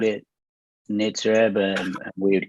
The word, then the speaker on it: Nitzer Ebb: There was always a question: is it Nitzer Ebb or Nitzer Ebb? It's like obviously Nitzer Ebb.